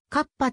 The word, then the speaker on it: 河童: ある副題にはどうかカッパと発音してくださいという半ば不可解